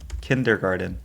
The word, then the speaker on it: kindergarten: Kindergarten. Well, there's definitely there there's an R. But no, but you don't pronounce the R.